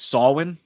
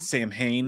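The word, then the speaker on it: Samhain: when I'm wrong um actually it's saulin it's not Sam Hayne it's not spelled with a W what an illiterate [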